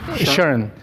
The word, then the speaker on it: Shern: How do you pronounce it? Shern. Shern. It's a shift turn.